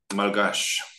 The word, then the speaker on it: Malagasy: Now, I'd like to take a small digression to tell you about a language called Malagasy. So I'm sure, Tyler, you are... Pronounced Malgash.